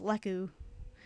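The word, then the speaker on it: Lekk: fanmade name for and the urkin antenna is Leu let me spell it out for you l e k k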